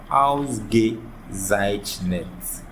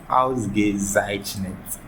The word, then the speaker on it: Ausgezeichnet: Into what can in your boma Ausgezeichnet. With practice on with me and a simple way. But if you are new to the word, pronunciation heading kakra. Into way to say excellent. Ausgezeichnet.